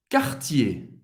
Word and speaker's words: Cartier: Cartier. Cartier. Cartier. Duas sílabas. ER no final de uma palavra tem o som do E.